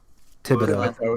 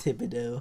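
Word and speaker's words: Thibodeaux: I still have Kayvon Thibodeau, like Tom Thibodeau. Thibodeau. It doesn't look how it looked like that. Yeah, but it's spelled in a very southern way.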